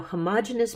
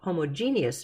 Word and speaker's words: homogeneous: and heterogeneous mixtures no now homogeneous mixtures or homogeneous mixtures both are correct pronunciations homogeneous mixtures and heterogeneous